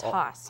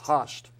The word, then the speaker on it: Haust: Haust. Do I have that pronounced right? Almost. It's Haust. Haust.